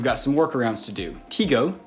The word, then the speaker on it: Tigo: some workarounds to do teego t-i-g-o i think is pronounced tigo provides a solution for